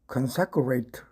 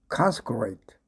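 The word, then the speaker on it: consecrate: 발음을 consecurate 하기 쉬운데 consate consate입니다.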